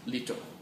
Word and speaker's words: lixo: It's Lixo, and somehow you pronounce that Lito, I think, which means trash or litter.